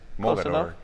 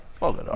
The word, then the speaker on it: Mogador: We'll be chatting about his Poetics of Wonder, Passage to Mogador. Am I pronouncing that right? Yes, Mogador. Mogador.